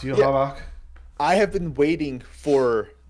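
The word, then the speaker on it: Yhwach: It's spelled Yawak, but it's pronounced Yuhavak.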